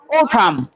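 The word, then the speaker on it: autumn: নাই এন এর উচ্চারণ এম এর পরে এন থাকলে এন এর উচ্চারণ উজ্জ্ব থাকে তাহলে ওঠাম তাহলে এটা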